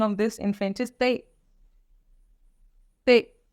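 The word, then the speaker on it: tante: T English में same है, but pronunciation of this in French is ते। ते, ते, तबला वाला ते।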